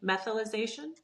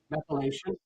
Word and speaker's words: methylation: Methylization. Methylation.